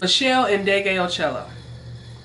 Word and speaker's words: Meshell Ndegeocello: here and butcher it her name is Michelle and degeocello that is beautiful and